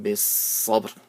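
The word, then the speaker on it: بالصبر: وَتَوَاصَوْا بِالصَّبْرِ بِالصَّبْرِ. So saw is full mouth and it has a tashdid, so you have to hold on to the saw for a bit.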